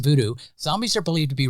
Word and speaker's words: Vodou: Now, in Haitian Vodou, which modern days is pronounced voodoo, zombies are believed to